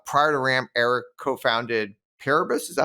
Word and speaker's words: Paribus: billion dollar uh prior to Ram Eric co-founded parabus is that how you pronounce it that's right which was a consumer